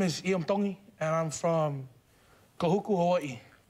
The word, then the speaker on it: Iam Tongi: Tongi. You pronounce the T's like a D in the Tongan culture.